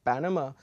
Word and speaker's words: Panama: So you see for banana, the stress is on the second syllable, whereas in Panama, the stress is on the first syllable, okay?